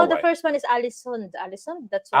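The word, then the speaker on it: Ålesund: first one is Alisund. Alisund. That's why. Allison. Yeah, that's Yes. how you pronounce it.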